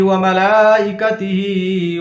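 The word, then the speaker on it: ومَلائِكَتِهِ: ہجے سے پڑھتے ہیں۔ وملائکتہ، واو زبر وا، میم زبر ما، وما، لام کھڑا زبر لا، وملا، حمزہ زیر ای، وملائی، کاف زبر کا، وملائکہ، تا زیر تی، وملائکتی، ہا کھڑا زیر ہی، وملائکتہ۔ پیچھے سے ملا کر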